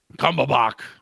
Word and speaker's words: Cumberbatch: Cumberbatch.